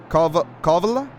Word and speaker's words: Kalavala: Kalvala? Pranav Kalvala? How do you pronounce that? Pranav Kalvala? Hello, welcome. Kalavala. Kalavala. So Pranav Kalavala. Awesome. Perfect.